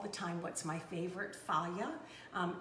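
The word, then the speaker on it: Fage: time what's my favorite faya um f-a-g-e is my favorite um it's pronounced via and really delicious and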